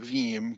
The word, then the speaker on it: Veeam: The name Veeam comes from pronouncing VM as a word.